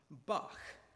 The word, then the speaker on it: Bach: in the kitchen um I think this actually pronounced buck no yeah you said you're saying boss yeah yeah uh okay